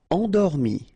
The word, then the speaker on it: endormi: Endormi. Remember, E-N, en. Endormi.